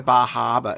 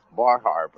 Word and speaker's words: Bar Harbor: Mark, come on. Just say it like it really is. Bar Harbor. Bar Harbor.